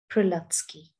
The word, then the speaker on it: Prelutsky: was written by jack prelatsky that's how you pronounce his name jack prilovsky be glad your nose is on your face